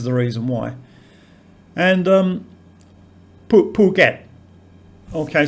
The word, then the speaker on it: Phuket: um pool get okay so again the aspirated p is written ph which to english speakers uh means f and in the 80s when brett started to hear about phuket in thailand they thought it was pronounced in a completely different way and found the pronunciation hilarious regarding what i was